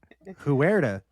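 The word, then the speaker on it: Huerta: That that H I think is going to be for a lot of people they're not pronouncing. the way I did. They're like, "Whoact is that guy?" Huera.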